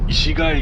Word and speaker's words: 石蟹: 石にカニと書いて石垣駅を通過。